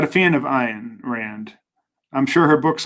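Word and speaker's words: Ayn: statements are truly outrageous it's pronounced an Rand no it's not it's iron Rand religion is innocent people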